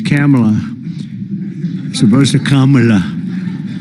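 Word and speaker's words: Kamla: Cam as opposed to Com.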